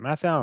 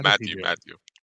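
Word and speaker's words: Mathieu: Is it Mathau or it's Matthew? I don't know. No, Matthew.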